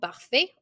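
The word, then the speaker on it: parfait: the pronunciation for male we don't pronounce that t we say per for female because it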